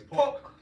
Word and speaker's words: Paulk: I know it ain't just Paulk. It's Paulk. I want to pronounce my man name right, because I was calling you Paulk. It's got a U in it.